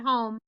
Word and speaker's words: home: out the base word home huh oh three taps and what's the silent letter in holmes yeah e is silent that's why we don't tap for it very good okay i